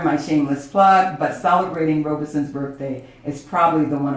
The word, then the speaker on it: Robeson: philosophy of paul leroy robe son two syllables robe son and vinoka will correct